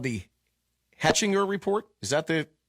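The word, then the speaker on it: Hechinger: at this uh i think it's called the hatchinger report is that the correct way to pronounce it do you know correct okay yes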